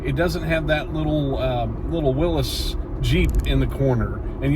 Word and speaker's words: Willys: The only exception, it doesn't have that little Willis Jeep in the corner. And yes, I said Willis and not Willys, because it's properly pronounced Willis.